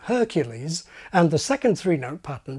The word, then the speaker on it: Hercules: Hercules, Aladdin. But swap those names around and the result is a train wreck. Aladdin, Hercules. Impossible. As the old joke goes, it's putting the emphasis on the wrong syllable.